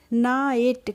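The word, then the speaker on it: night: तो एन आई जीएसटी को हम बोल देंगे ना इट क्या बोलेंगे ना इट ना इट हो जाएगा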